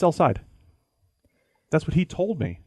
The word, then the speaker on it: El Said: He said it's El Said.